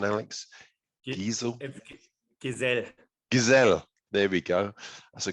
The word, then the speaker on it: Gesell: have with me somebody from imagine growth diesel which i understand is that the correct pronunciation alex diesel gazelle there we go that's a great start i've